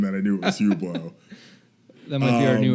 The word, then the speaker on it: Hublot: It says they stole more than $12,000 in cash, an $18,000 Rolex, a $25,000 Hublet. I don't know what that is. Hublot. Yeah, sure. It's spelled stupid.